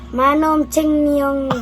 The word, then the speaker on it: Manong Timyong: The name is Manong Timyong Vlog.